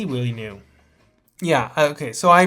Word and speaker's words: Villeneuve: Who is this Willie New guy he's talking about? It's Denis Villeneuve.